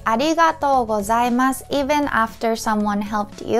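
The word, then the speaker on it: ありがとうございます: Again, about the pronunciation, many people tend to say arigato or arigato gozaimasu. But each character has same length, okay?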